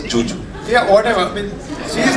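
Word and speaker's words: Zhu Zhu: she's it's written as it's written as zuu but she pronounces it as Juju yeah whatever I mean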